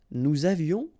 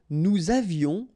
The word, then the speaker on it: nous avions: Nous avions, final S not pronounced, and then little liaison.